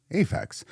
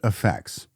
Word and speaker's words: Aphex: Well, one of my most hated interactions with him was about the pronunciation of Aphex. I called it Aphex. He just called it Aphex.